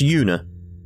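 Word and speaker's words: Juna: you pink head girl so I'm assuming it's pronounced Yoona I'm Yoona I transferred here from the crossbell police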